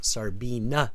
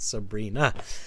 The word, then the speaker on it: Sarina: have to often say my name is Sarina not Sabrina um because that's going to be a common mistake but beautiful name um